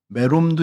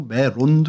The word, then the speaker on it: 메롬: 이 롬이 론으로 발음되기도 하고 해서 좀 변형이 좀 많이 되긴 해요. 그래서 메롬도 있고 메론도 있습니다.